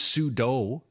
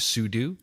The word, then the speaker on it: sudo: Why was this sudo, right, instead of sudo? Why was this sudo command invented? We already had run as, no? Actually, no, it's sudo. It is sudo? Oh, right, yeah, do. Super user yeah, do.